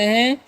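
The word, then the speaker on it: he: तो एच का उच्चारण क्या करना है, एच का उच्चारण ह करना है, याद रखना है, ठीक है। और ई जो है ना, उसका उच्चारण दीर्घ करना है, तो हो गया ही मतलब होता है वह,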